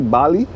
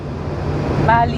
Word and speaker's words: Bali: Bali?